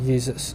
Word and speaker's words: Jesus: it turn into German so in German though the the the J is actually a y so Jesus okay in German this is how you pronounce it Jesus uh well maybe not an identical pronunciation but I'm trying uh so so you have like that the why and it's it's it's a y sound and then in English